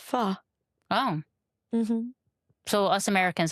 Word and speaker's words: pho: I thought it was pho. It's pronounced pho.